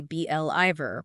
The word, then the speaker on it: believer: Like for I'm a firm believer in, they stressed the BLIver part.